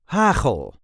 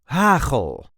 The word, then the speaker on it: hagel: see how to pronounce hle or in English hail. This is the way we say hle. There is a light emphasis on the first syllable.